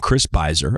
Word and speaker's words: Chris Voss: There's a guy named Chris Voss, I believe is how his name is pronounced, I found on Twitter, and he had a lot of interesting thoughts on Kony.